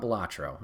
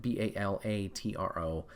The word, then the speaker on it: Balatro: uh let's talk about batro and I think that's how you say it b a l a t r o balatro balatro I apologize for butchering it um but this